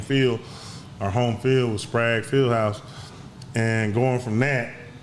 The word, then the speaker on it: Sprague: Yeah, so in comparison, Sprague, we call it Sprague, but it's actually pronounced Sprague.